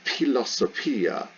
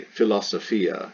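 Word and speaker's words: φιλοσοφία: hit your hand uh is commonplace to just go ahead and pronounce this letter as an f like the way we say philosophy but the classical greeks would have said pilosopia so you can say philosophia if you really really want but the classical greeks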